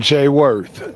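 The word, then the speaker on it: Jayworth: name oh foreign first and last ing I'm Jay worth j-a-y-w-o-r-t-h Jay I saw that not only you're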